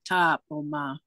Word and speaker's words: Tapoma: So Franny Tonkame is the one that had Tapoma, and that's how they pronounced it, Tapoma. And that's how I was told to pronounce it.